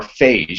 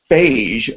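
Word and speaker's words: phage: and we talked about FJ or fase actually it's pronounced fagee are these you know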